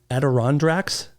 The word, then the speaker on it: Adirondacks: whenever you're ready just say the word Adirondack Adirondacks did you say just now Adirondacks Adirondacks did I say it right eventually yeah